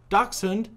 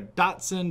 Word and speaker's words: dachshund: hound dog but you put those two together dachshund or dachshund and that's how you pronounce it i just learned prior to this video because i was calling either a datsun or a dash hound actually i really just called him wiener dog